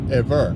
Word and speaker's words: Ewe: you know that there's a tribe called the a way ewe these people pronounce theirs eve but what we know